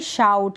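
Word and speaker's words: shout: ये जो आई है इसका उच्चारण हो रहा है अ करके, शर्ट। फिर है यहाँ पर शाउट, इसको आप पढ़ेंगे शाउट।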